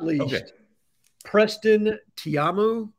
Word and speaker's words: Taumua: Preston Tiamu. Is that how you say it, Cole? I've been saying Taumua. Taumua, you're probably right.